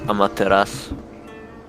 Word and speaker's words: Amaterasu: Amaterasu. I think that's how you pronounce it. Whatever the hell it is. Instills fear in enemy units. Yeah, it's Amaterasu.